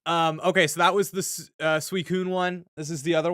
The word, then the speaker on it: Suicune: Can I get a pronunciation on that? Suicune? Yeah, Suicune. Okay. Thank you. As a child, I definitely said Suicune.